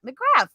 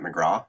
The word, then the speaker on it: McGrath: If I was a good, Irish boy, I'd say McGrath. That's like the correct way of pronouncing it, I guess. Yeah. But no, I use the, bastardized North American version of McGrath.